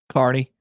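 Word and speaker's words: Kearney: You know, a lot of people get Carney wrong. Carney.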